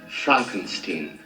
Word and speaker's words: Frankenstein: Far too late, for example, Disney's Frankensteinian, it's pronounced Frankenstein, efforts to hastily reshoot and unmessage certain shows and movies like the aforementioned Snow White, Daredevil, and Captain African American.